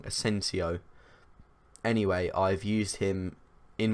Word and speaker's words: Asensio: were very very good I enjoy using asenjo keep saying that name wrong asensio anyway I've used him